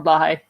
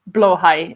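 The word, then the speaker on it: Blåhaj: The world can always use more Blahai. Or Blowhai is how it actually is pronounced, I believe. I always say Blahai. It's more like Dutch pronunciation, I guess.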